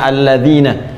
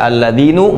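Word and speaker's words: الَّذِينَ: tetap ya fathah begini karena itu dibacanya alladzina kita tidak baca alladzinu Enggak ada alladziini selalu mabni tetap dalam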